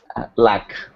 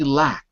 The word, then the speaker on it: luck: Luck. Luck. Luck. I'm hearing lack. I want to hear luck.